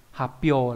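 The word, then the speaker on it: 発表: À, tại sao lại đây là hyo mà đây là p đúng không, bởi vì đằng trước chữ phát là h, sự đằng trước mà là chữ thuộc hàng kasata, đằng sau là hàng h, thì thông thường là cái kasata đằng sau nó sẽ bị biến thành chữ nhỏ và cái chữ h thành sau thành p đúng nhỉ.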